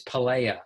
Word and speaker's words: Palaia: merchandise by the way steve it's pelea there's you're adding an l my name is one l yes yeah sorry i'm